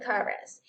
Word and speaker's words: chorus: Y vemos que la CH en estas palabras se comporta como una K. Here, the sound is, sí, así suena, chemist, court, and chorus. Y el origen es griego. Por lo tanto, las palabras con ese origen suenan de esa manera.